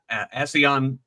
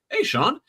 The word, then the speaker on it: ASEAN: for this year's, uh, ASEAN um, summit. That's as an association of Southeast Asian Nations. And I always want to pronounce it, hey Sean.